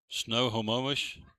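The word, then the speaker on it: Snohomish: Snowomish, Washington. I'm sure I butchered that name.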